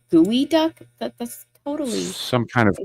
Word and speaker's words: geoduck: The pronunciation makes it seem like it's a gooey duck.